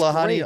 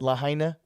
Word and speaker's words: Lahaina: Lahani Aloha or Lanani something? I actually still don't know how to pronounce that. Lahaina.